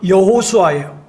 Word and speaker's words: 여호수아: 이름의 권세를 의지하는 거예요 여러분이 예수라는 이름은 헬라식 이름이에요 그러면 히브리어로 히브리식 발음은 뭐냐 여호수아예요 같은 뜻이에요 예수 여호수아 근데 여러분